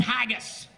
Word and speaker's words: haggis: dish of scotland is called haggis i don't like to eat anything that rhymes with gagas haggis's sheep intestines with